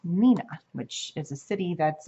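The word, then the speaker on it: Neenah: once before it's called Nina and I you set that wrong the first time because it's the way that it's spelled it looks like it says Neha but it's actually pronounced Nina which is a city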